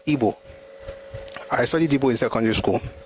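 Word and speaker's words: Igbo: And by the way, my pronunciation will always be correct. It's Ebo.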